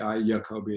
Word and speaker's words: Jacobi: CG Jung Yolanda Jacobi je a co bi yo Kobe is how they pronounce